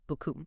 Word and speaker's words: beaucoup: So in French, thank you very much is merci beaucoup, right? B-E-A-U-C-O-U-P. Right. Beaucoup. But the way I sometimes, or mispronounce that last bit, the coup, it comes out sounding exactly like merci beaucoup, C-U-L.